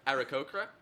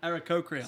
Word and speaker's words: Aarakocra: I can't pronounce the race that I am, but It's an Aarakocra. how do you say it? Aarakocra. Aarakocra.